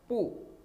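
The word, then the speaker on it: 不: ये है पू, बी को बू नहीं पढ़ना, बी को चाइनीज़ फिनियन में पे की प्रोनाउंसिएशन देनी है।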